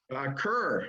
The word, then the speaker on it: Kerr: Is it Kerr or Kerr? I don't know how to pronounce it properly. Kerr, actually, Kerr.